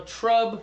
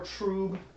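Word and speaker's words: trub: it yet so right so that they call it well trb or tro it's spelled t r u b um there tomato tomato on that one too right but the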